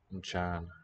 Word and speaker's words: Mchana: Habari za Mchana. I think. Either make. Yeah, it makes up its own syllable. It's not prenasalization of the consonant because it's not homorganic. It takes up a beat.